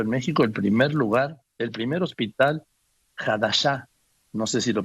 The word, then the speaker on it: Hadassah: A ver, este hospital Hadashah, ¿cómo se pronuncia? Hadassah. Ahora sí que con la H muda, Joaquín.